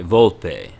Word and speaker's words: Volpe: Thank you for all your help, Volpe. Buona fortuna. Okay, Volpe. So that E is actually pronounced.